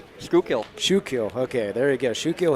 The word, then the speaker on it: Schuylkill: Scott Buffington from I never pronounce that name right. Schuylkill. Schuylkill.